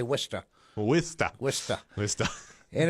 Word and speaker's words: Worcester: nobody can pronounce. If you're from there, you say Worcester.